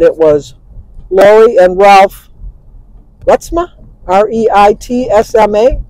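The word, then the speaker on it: Reitsma: But it was Lori and Ralph Retsma, R-E-I-T-S-M-A, Retsma.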